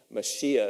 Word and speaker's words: Mashiach: Mashiach is how it's pronounced, is in the Bible, refers to, it is the Messiah, and it refers to one who's anointed.